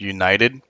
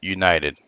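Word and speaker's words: UNIT3D: recently upon something called, I'm going to assume that it's supposed to be pronounced United. It's actually spelled UNIT 3D, right?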